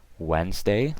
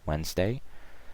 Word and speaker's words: Wednesday: tu es and day Wednesday like I said the D is silent don't forget that WD and ES and day so Wednesday Thursday th urs and